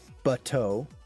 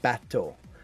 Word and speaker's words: bateau: Well, it's ba. So not bateau. So for example, it's like bat. As in flying bat, bateau, not batter.